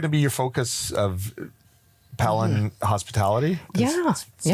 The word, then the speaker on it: Pelan: So what's what is your going to be your focus of palen hospitality? Yeah. Well pronounced not pan.